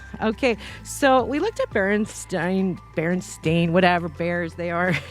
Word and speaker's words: Berenstein: it's about stein or it's pronounced stein like you would you know the famous einstein as t-e-i-n now you know there was a point where everybody was saying baron stained bears and i'm like